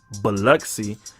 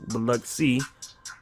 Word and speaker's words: Biloxi: And they had the I, you could pronounce I as E. So Biloxi. All right. But that's how you pronounce it. Biloxi.